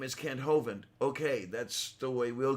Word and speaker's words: Hovind: is a tendency, like, I know that Kent Hovind pronounces his name Hovind. I have never heard anyone Oh, from I know where England I know where you're going. all say Hovind. Yes. And I'm like, no, that's not how that's pronounced. Maybe if there was an E at the end of his name, but there's not.